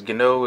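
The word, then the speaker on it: Guinot: Gano is G-U-I-N-O-T, if I'm probably mispronouncing that, I mean misspelling it, but it's pronounced Gano.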